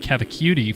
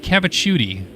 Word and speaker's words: Cavicciuti: And I appreciate him finally telling me the correct way to pronounce his name, because I said Cavicciuti forever. But he says it is pronounced Dylan Cavicciuti. So I'll take his word for it.